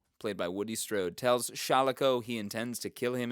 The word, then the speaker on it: Shalako: I'm still tempted to pronounce it wrong. Shalako, played by Sean Connery, a former U.S.